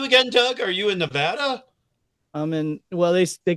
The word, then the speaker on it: Nevada: They call it They call it Nevada is how they say it.